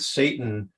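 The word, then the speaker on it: שטן: tempts us in fact in Hebrew the word Satan pronounced Satan in Hebrew it means an adversary an opponent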